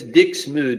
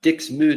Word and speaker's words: Dixmude: I'm going to pause so I can go and find out how to pronounce these flipping words. Hold on. Well, supposedly it's Dixmude, not Dixmude or whatever, so I'll do it with the